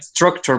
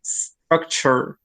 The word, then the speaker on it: structure: some different words in English that start with S, we tend to add the E. And then we say a structure, but it's structure. And then, for example, the ending of this, the ending that in Spanish could sound like tour, in English sounds like structure.